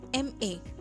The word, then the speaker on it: MA: For example, an MA. Here, the consonant M is pronounced as EMM, so it begins with a vowel sound and we use an.